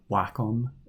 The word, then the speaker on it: Wacom: least in my opinion to a Cintiq slash Wacom product or Wacom if you go by that pronunciation I would recommend dropping it down to